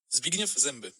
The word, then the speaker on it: Zbigniew Zęby: But here is how you are supposed to pronounce his screen name. Zbigniew Zęby.